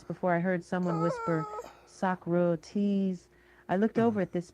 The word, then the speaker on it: Socrates: So, I said so because that's the way I had always assumed it was pronounced. There was a moment silence before I heard someone whisper Sakro.